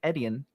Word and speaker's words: Etienne: running back than Travis Etienne. How do you pronounce that name? Just think of it as letters. The letter E, the letter T, and then the letter N.